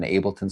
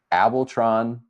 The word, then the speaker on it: Ableton: found online somewhere and it said I'm an Ableton certified trainer, but the way they pronounced it was Matt McCoy. I mean, they're not like a tech person at all. They were like Matt McCoy is an Abron certified trainer.